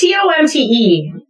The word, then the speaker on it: Tomte: Tomte or Tomte? It's Tomte.